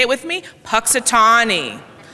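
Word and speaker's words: Punxsutawney: Puxatawny. I know it doesn't look like that's how it's spelled, how it should be pronounced, but that's really how it's pronounced.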